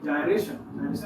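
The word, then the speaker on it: gyro: यानी जायरोस्कोप नहीं, जायरेशन कहते किसको। प्रोनाउंसिएशन की बात करें तो इसको जायरो भी कह सकते हो, गायरो भी कह सकते हो,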